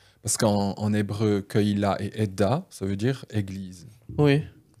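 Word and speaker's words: עד: oud, mais peu importe, ça s'écrit la même chose, ça se prononce un peu différemment, c'est Ed.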